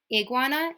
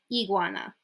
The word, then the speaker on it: iguana: Now we have I, which in Spanish is pronounced E. So A, E, and E. Por ejemplo, iguana. So it's not iguana, it's iguana. Okay, it's a hard E sound.